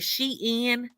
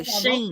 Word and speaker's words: Shein: How do you pronounce it? Is it Shein? Yes. Because I always hear people say that. Yes. Honey, I say Shein.